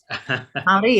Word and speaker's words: Māori: want to say, the indigenous, sorry if I mispronounce it, Maori. Maori, yep, pretty good, pretty close.